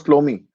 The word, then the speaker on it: Ptolemy: प्लोमी ने आपके, हु वाज प्लोमी? P2LMI, उनको प्रोनाउंस प्लोमी करते हैं।